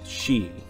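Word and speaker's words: Sidhe: who knew how to pronounce this it is pronounced she they're comprised of the realms of spring and summer and the she are led by the high summer queen titania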